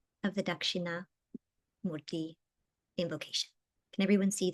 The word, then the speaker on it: Dakshina: Pronunciation, Dakshina.